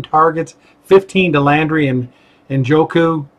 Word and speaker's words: Njoku: Njoku, I heard him say it right the other day.